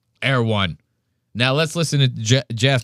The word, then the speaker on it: Erewhon: But he calls it like Air One. Yeah, he completely pronounces it wrong. I don't even live in LA and I pronounce it right. Erewhon.